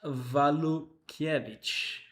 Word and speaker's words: Walukiewicz: It's pronounced Walukiewicz.